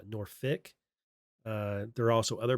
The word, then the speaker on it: Norfolk: So if you go to the FBI Norfick, they say they call it Norfick, not Norfolk. Call it Norfick.